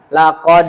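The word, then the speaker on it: لقد: Laq khalaqnal insana fi ahsani taqwim. Atau ada imam yang bacanya juga seperti itu. Laq khalaqnal insana fi ahsani taqwim. Seharusnya bacaan yang benar adalah laqad khalaqnal insana ahsani taqwim.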